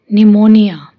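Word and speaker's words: pneumonia: है इसका रूल है पी is silent in the combination of पी एस, पी टी एंड पी एन, यानी जब पी एस, पी टी और पी एन का कॉम्बिनेशन आए तो वहाँ पी साइलेंट होएगा।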